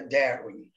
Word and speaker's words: Darwin: Mas como ele não era alemão, ele era inglês, a pronúncia correta é Darwin.